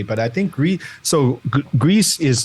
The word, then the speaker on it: Gris: I think we so Greece is like in Spanish it means gray so it's pronounced Greece I'm sure there's probably